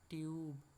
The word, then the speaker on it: tube: তো ইউ এর উচ্চারণ কি হলো? ইউ। তাহলে হয়ে গেল টিউব।